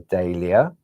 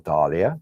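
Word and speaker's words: Dahlia: you've got your Snowdrop your daia or Dalia depends how you wish to pronounce it the Japonica then moving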